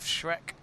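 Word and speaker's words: Schreck: on the halfway line with shrek not shrek as in the ogre it's spelled differently it's sch r e c k for the footballer i think that's how you announce it that's how i've announced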